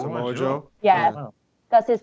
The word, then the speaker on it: Samoa Joe: I'm gonna pronounce his name wrong. Samoan Joe. Joe. Samoa Joe.